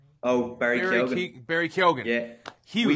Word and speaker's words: Keoghan: I like I always mess up how to say his name, but it's Keegan? Oh, Barry Keoghan.